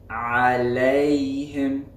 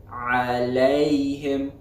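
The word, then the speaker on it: عليهم: So an example of this would be alayhim, alayhim, alayhim.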